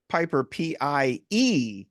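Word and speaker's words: Peper: And that's Piper, Yes, P-E-P-E-R. P-E-R. Most of Yes, us would all Piper. spell it P-I-P-E-R, but there's an It's E.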